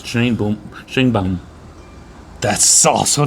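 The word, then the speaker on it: Sheinbaum: the election of Claudia shine bomb shine bomb is not a traditionally Mexican name what it's not no it's cuz you're pronouncing in English it's Shain boom Shane bom that's also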